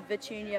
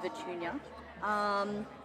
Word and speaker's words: Vichunia: So I'm Vichunia. It's like Petunia, but spelt with a V, so Vichunia.